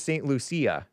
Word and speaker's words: St. Lucia: I always called it St. Lucia, but it's St. Lucia. Oh, yeah. That's the Spanish way of saying it, I guess. Okay, yeah. But we say St. Lucia.